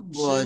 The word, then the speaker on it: 吃: 吃 ছি ছি ছি বলেন তো, ছি 吃 ছি 吃 ছি 吃吃 ছি 吃吃 ছি।